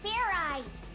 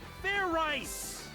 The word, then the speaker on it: Fairize: Do it again, and this time make sure you pronounce the Z.